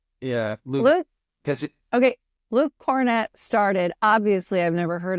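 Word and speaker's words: Kornet: cornet Luke cornet what it is not cornet it's it's not Hornet I promise you it's not Hornet I know I promise you it's cornette Luke cornette okay because when I saw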